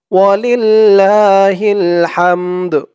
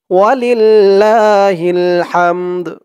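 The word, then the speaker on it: ولله الحمد: জের হিল ওয়ালিল্লাহিল ওয়ালিল্লাহিল হা দিয়ে মিম ধরবে হা মিম জবর হাম দাল পেশ দু ওয়ালিল্লাহিল হামদ ওয়ালিল্লাহিল হামদ হা দিয়ে এই মিম ধরবে আবার এই দালও ধরবে দালের উচ্চারণটা লাস্টে একটু ভাসবে খেয়াল করুন আমি কিভাবে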